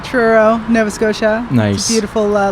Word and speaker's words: Truro: the name of your churro churro yeah there's no ch but it's team yes it's a truro nova scotia nice beautiful